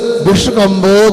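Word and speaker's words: विष्कम्भो: अब ये शाखा उच्चारण करते हैं ना, ध्यान देना कैसे पढ़ना। तन मध्य मेरु नाभिर वृत्तो योजन शत सहस्र विश्वकंबो जम्बूद्वीपा।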